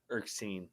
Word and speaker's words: Erskine: Erskine. Is that how you pronounce that? Yes. Erskine.